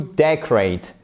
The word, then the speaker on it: decorate: D'ailleurs, voyez décoration, là vous avez un accent tonique sur l'avant-dernière syllabe. Mais décorer, c'est on l'a vu au début to decorate. Vous avez l'accentuation, même s'il se ressemble beaucoup, même si c'est le nom et le verbe, sur la première syllabe qui est ici, sur cette partie. Decorate, decoration. OK.